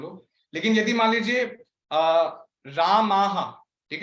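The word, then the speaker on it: रामाः: लेकिन यदि मान लीजिए रामाह, ठीक है, राम जो है वर्ड, उसका प्लूरल बहुवचन में हम लोग बोलेंगे रामाहा, वैसा।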